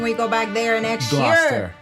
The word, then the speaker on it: Gloucester: Now we know how to pronounce it when we go back there next Gloucester. year. Right, Gloucester.